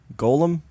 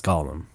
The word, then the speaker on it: Golem: word with the Dragon Warrior enemy yeah that's Golem they're two different things okay well no but people do will pronounce that as Gollum and they're wrong yeah okay well then we